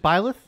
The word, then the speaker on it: Byleth: It's just Byleth?